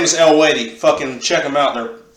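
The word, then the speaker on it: Eluveitie: But the pronouncing of their name is El-Wadi. I used to call them Aluvidity till I heard them actually say the name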